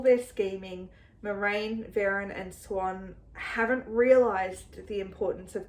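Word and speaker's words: Siuan: Sounds like Perrin is prepared for, I think her name is pronounced Swan.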